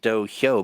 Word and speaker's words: dohyo: Well, yeah, you pronounce it Dohyo, but it's not like Yo-hyo. It's with an H.